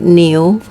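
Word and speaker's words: 牛: you're also a new you can also remember like a new you know like something new you know like you have a new clothes those kind of thing new so but the tone you you put it as new okay and uh also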